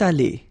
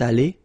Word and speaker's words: allée: Phonetically, it doesn't exist. You don't pronounce it, so you get elle est allée, and then for the masculine form, il est allé. So aller is pronounced the same way.